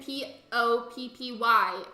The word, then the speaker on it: Poppy: I was talking about Poppy, P-A-P-I, the horse villager, and then P-O-P-P-Y, Poppy, the squirrel villager. They're just pronounced the exact same way.